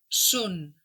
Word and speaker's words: són: En el primer cas, son, és oberta i en el segon cas, són, és tancada.